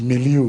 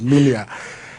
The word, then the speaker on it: milieu: Well, I think some of you use the word milieu. The proper pronunciation is milia.